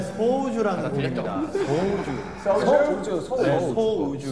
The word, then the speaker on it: 소우주: 소주 아닙니까? 소주. 너무 좋아요. 소주. 소주. 발음 조심해야 될 것 같아요. 소주. 이거 진짜 밤에 들어야 돼. 아, 진짜요. 정말 좋아하는 노래예요. 우리 빛나고 있네. 네, 소우주라는 곡입니다.